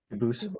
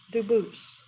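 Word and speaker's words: Dubois: They do pronounce it dubis, but you said you pronounce it dus as the original dub boost as the original French. Yep. Very well. Duboose.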